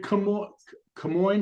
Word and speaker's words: Camoin: Lisa, can Camoin, is that how it's pronounced?